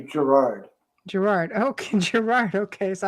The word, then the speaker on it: Girouard: in the French Yeah. document, it's pronounced Girouard, but Girouard. it's actually Gerard.